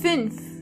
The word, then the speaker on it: fünf: This letter is pronounced Ü. To get the sound, start with a normal U and then make your lips even closer to each other.